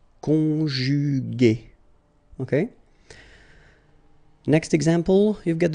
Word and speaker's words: conjugué: Okay, second possibility here, you've got this accent aigu, so remember this accent aigu is pronounced a, okay, and so you get the word conjugué, conjugué, okay.